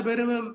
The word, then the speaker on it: Bhairava: Before that, Kala Bhairava, the Bhairava has got 3 syllables, Bhairava.